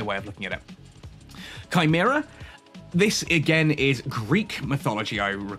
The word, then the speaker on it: Chimera: In Greek, it would have originally been Chimera, or Chimera, which literally translates as she-goat.